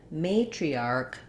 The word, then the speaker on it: matriarch: In this case, that would sound like archal, matriarchal. So we still have our may and tree, but you can hear how in matriarch, the may is long and the arc is short, and in matriarchal, that matri is fast.